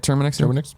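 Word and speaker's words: TerminX: In one screen cap, Ion Fury lead developer Terminix, is that how you say it? Terminix? There you go.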